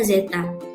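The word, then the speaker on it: ζ: Lambangnya seperti itu ya, bacanya zeta.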